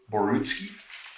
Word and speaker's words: Borutski: Now, Basil, am I pronouncing your last name correctly? Is it Borutski?